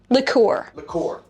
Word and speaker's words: liqueur: Liqueur. Like liquor?